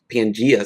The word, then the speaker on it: Pangea: So she's um the owner of Pangea Cigars. Am I pronouncing that correctly?